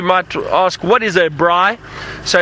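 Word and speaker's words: braai: some of you might ask what is a Bry so it's spelt BR double a I and that is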